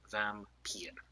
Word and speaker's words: Vampyr: And I do believe it is pronounced Vampyr. I looked it up on Google, and that's what it told me. I legitimately put in, how do you pronounce this game? And it said Vampyr.